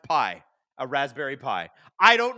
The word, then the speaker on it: Pi: Oh, it's ra it's pronounced pi.